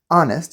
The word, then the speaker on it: honest: is the important part take the word honest honest you hear it starts with a vowel sound ah honest but if you spell it there's an H but just because there's a consonant H does not mean we use a in fact we need to use n honest and honest because